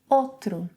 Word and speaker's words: outro: 'Morou', when speaking, may be pronounced as 'morô'. 'Outro' - 'ôtro' So then here we would have...